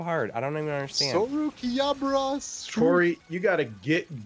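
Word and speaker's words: ソウルキャリバー: Sorukiabura Suri. Sorukiabura. Why is this so hard to me? Why is this guy so hard? I don't even understand. Sorukiabura Suri.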